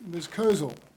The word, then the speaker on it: Kozel: Kozel. I got it right that time, right? Yes, you did. I keep going the accent on the second syllable, I apologize.